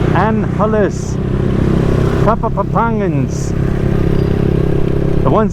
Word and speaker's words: Angeles: it's not Angelis it's Anne Hollis top of opponents the ones that this is their city their area the point they were born and raised here they do not pronounce the G and Hollis and Alice